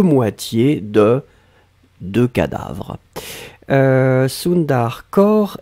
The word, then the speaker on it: corps: Sundar, corps et cœur sont prononcés de la même façon. Pas du tout, Sundar. Le premier que vous avez écrit, corps, C-O-R-P-S, un corps, O-O-R, corps. Le deuxième, un cœur, E-E-E-E, un cœur, d'accord?